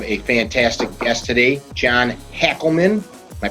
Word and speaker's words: Hackleman: We have a fantastic guest today, John Hackleman. Am I pronouncing that right, John?